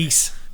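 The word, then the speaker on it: Ys: No, it is Ease, isn't it? Ease, like geese.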